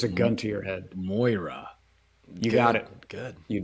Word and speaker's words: Moira: there's a gun to your head right now pronounce her name correctly go there's a gun to your head Moira you got it good you did it yeah